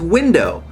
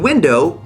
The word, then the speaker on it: window: a perfect rhyme with window because the accented syllable in window is not do it's wi window not window this may seem really picky